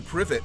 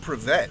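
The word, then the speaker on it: Privett: behoove you to learn the pronunciation of Andrew privet not prevent if you want to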